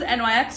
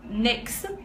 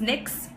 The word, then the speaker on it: NYX: lips face oh yes a mix is actually pronounce NYX not in wax I thought it was nos for a while and then I realized that it was next also as we are on the topic of